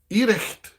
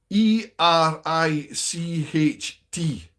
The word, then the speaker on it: Ericht: It's called Ericht. E r i c h t.